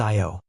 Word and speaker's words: Io: and its moons including IO pronounced IO the probe captured images